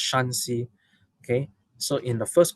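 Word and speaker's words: Shaanxi: are inner Mongolian uh I am told this is pronounced shansi and the next one is pronounced shansi okay so in the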